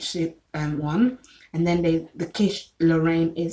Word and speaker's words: quiche Lorraine: And then the quiche Lorraine is spelled QUICHE space LORRAIN, like Lorraine in the name, as in the name Lorraine.